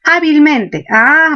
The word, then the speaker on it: hábilmente: Pero veamos, ¿dónde está el acento en hábilmente? Tenemos el acento en a, pero también en men. Recuerden que las palabras terminadas en mente tienen dos acentos, son palabras ditónicas.